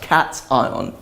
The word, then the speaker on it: cation: to call it a cat ion okay some people who aren't native English speakers might pronounce education because that tion sounds like Sean by it's pronounced cat eye on and on the other